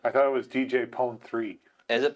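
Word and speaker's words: Pon-3: I thought the 3 was supposed to be like, because it's like techno, so it's E actually. Well, I don't know how you pronounce that, just that it is a 3, but... Yeah, it's a 3, but it's Pone E.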